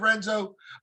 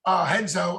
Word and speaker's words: Renzo: Do you go outside of Renzo? Henzo, I guess I'm pronouncing it with the R, Henzo Gracie.